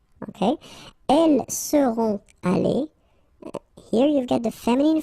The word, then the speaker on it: allées: So you'll put this s. You don't pronounce it, but still you need to put it. Okay? Elles seront allées.